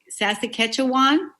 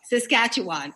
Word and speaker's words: Saskatchewan: on a farm in sassa sassa quechuan how do you say that saskatchewan oh saskatchewan okay yeah and at a